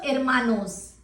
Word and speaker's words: hermanos: So hermanos.